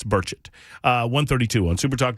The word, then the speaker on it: Burchett: the show even though I mispronounced his name for the entirety of the first interview I ever had remember that on Tim Burkett uh that was not correct it's burchett uh 132 on super